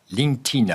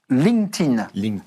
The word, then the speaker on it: LinkedIn: LinkedIn. Alors, vous pouvez remplacer le D par un T. LinkedIn.